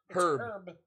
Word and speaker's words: herb: That's like if you say herb. Herb. It's herb. Yeah. ERB. H is silent, unless you're British.